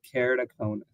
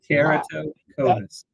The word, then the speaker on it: keratoconus: Today we're gonna be talking about a condition called keraticonus. You say it so easy. Zoe. So keraticonus that is I guarantee you most of